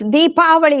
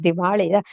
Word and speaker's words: Deepavali: Yeah, it's really called Deepavali. I guess some people don't know how, it's Deepavali, it's too hard to pronounce, so they said Diwali. Diwali means bankrupt in our language, in fact. So I keep telling my grandchildren, I said, don't say Diwali, it's Deepavali.